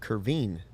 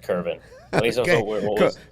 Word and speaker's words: Kervin: were told that kervin because the pronunciation the cub sent out said curvine yeah i think it was i think it was a an error it's kerbin kevin castro okay so